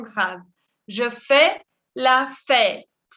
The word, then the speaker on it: fête: Je fais la fête. Y esa E con sombrero también es E accent circonflexe y se pronuncia E, con la mandíbula que cae.